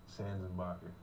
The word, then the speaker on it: Sanzenbacher: Sanzenbacher.